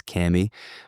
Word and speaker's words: Kami: Some people still pronouncing it Kami. Pretty sure we've settled the proper way is Kami.